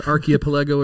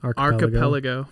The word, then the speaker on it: archipelago: at home asking is archaeopalego a real word it is a real real word it's just pronounced differently how do you pronounce it archipelago archipelago i like that better what's good god damn